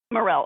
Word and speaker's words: Morel: is it Mara Morel Morel okay I wasn't sure how how the L's were pronounced so Morel and Franchesca can you